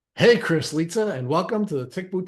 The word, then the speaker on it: Lizza: over in her grave so litaa is the proper way of pronouncing your last name or am I wrong yes it is that's